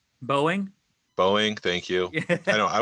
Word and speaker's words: Boeing: to mention and I always get this company's name wrong I don't know why I cannot speak it but boing Boeing Boeing thank you I know I worked in Government